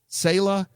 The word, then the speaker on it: Sayla: Sayla, pronounced almost like sailor without the R, is a prostitute that Ichi frequently visits.